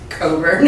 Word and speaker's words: Cockburn: so that's I got to meet Sarah Caldwell Coburn so I know it's pronounced Coburn it so and very little known is known